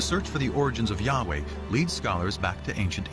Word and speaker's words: Yahweh: and his name was these four letters which in English would be YH w AG which we think were probably pronounced something like Yahweh but Yahweh only appears